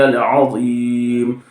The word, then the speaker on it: العظیم: ہے، اس کو بھی درست کیجئے۔ سبحان ربی العظیم، سبحان ربی العظیم۔ اگر آپ کی زبان سے یہ تلفظ کی ادائیگی نہیں ہو رہی ہے تو